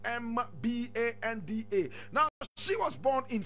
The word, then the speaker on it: Mbande: Mbande is Mbanda.